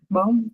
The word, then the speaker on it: bomb: Bomb. What is the silent letter? We don't need to pronounce the B.